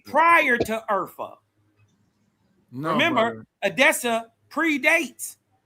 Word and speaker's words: Urfa: You would pronounce it Urfa because the H is pronounced with a hard H. It's like a F.